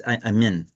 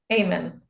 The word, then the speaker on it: Aiman: It's Aiman. Amen.